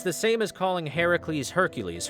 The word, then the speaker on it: Heracles: the same as calling Heracles Hercules Hercules is not the proper pronunciation of the name it's Heracles anyway